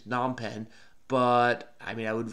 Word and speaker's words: Phnom Penh: I think maybe you don't pronounce the F, so maybe it's Phnom Penh.